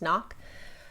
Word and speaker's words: CNOC: The dirty water bag I'll be using is the CNOC 2-liter water container, and CNOC, pronounced knock.